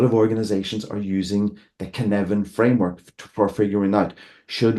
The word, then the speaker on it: Cynefin: Pronounced Cynefin, not pronounced Cynefin, Cynefin.